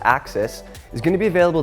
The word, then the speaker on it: AXS: the 12 speed access group spelled AXS for pronounced axis is going to be available this coming April